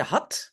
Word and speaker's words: had: Ik had, non, pardon, on a un T de had et un D de dorst. Hein? Parce que ça ici se prononce comme T, had, et le D ici se prononce comme D.